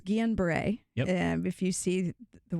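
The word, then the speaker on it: Guillain-Barré: to you because I I fear butchering both the pronunciation and also what it means it's unusual and so it's Guillen Bray yeah if you see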